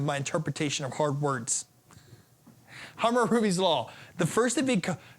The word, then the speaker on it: Hammurabi: Hammurabi's, I believe. Hammurabi's. Thank you, Paul. Paul is one of our new people here who is helping me with my interpretation of hard words. Hammurabi's law.